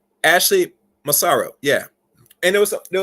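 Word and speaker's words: Ashley Massaro: no long here I think her name is Ashley maso maso I think I pronounce her name right let me make sure I pronounce the name right Ashley masaro yeah and there was there was some other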